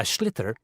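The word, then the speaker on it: sliotar: And basically, you have to get this ball called a schlither.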